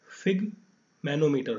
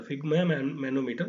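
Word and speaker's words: sphygmomanometer: है, उसका नाम है फिग्मा मैनोमीटर। ठीक है, ये आपको प्रोनाउंस कर सकते हैं फिग मैनोमीटर, फिग्मा मैनोमीटर आप इसको प्रोनाउंस कर सकते हैं।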